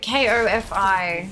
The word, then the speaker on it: Ko-fi: No, you know, K-O-F-I. Like, it's spelt like Ko-Fi, like lo-fi, Ko-Fi, yeah.